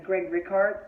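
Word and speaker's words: Greg Rikaart: And that's fine, though, because Greg Rickhart, that's how you say his name.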